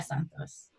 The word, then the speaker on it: Santos: I think Santos might be pronounced a little bit differently if you're like a Brazilian speaker, but I can't pronounce it exactly, unfortunately. But the way I would say it is Santos.